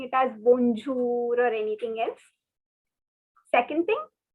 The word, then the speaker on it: bonjour: is pronounced as bo this n has a nasal sound okay so the word is bonjour um it is not